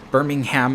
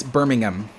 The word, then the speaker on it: Birmingham: my sister used to live in, you know, Birmingham, Alabama. And someone from Great Britain was like, it's Birmingham. And I'm like, it's Birmingham if you're in the UK and you're in Birmingham.